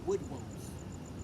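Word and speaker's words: woodwose: Let me show you how it's spelled. It's W-O-O-D-W-O-S-E, wood woes, right?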